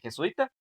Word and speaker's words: jesuita: O sea, solo serían 3 sílabas de jesuita y de jesuítico serían 4. Entonces, ¿jesuita lleva o no? Jesuita. ¿Dónde está lo más fuerte?